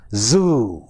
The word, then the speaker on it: zoo: That is why we say, I went to the zoo, I saw a zebra, which is wrong. Actually, it should be zoo, zoo, zebra, zero.